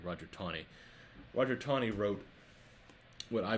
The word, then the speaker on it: Taney: man named Roger Taney, spelled Taney, but pronounced like there's a W in there, Taney, Roger Taney.